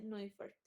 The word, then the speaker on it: Neufert: Se escribe Neufert, pero como es alemán, se dice Neufert.